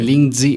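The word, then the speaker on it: lingzhi: You call it a reishi mushroom or a lingzao. How do you say? Lingzi is the Chinese name.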